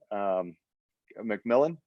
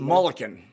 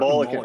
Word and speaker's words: Mulliken: So we were introduced from Kurt McMillan. Is that how you pronounce it? Mulliken. Kurt Mulliken.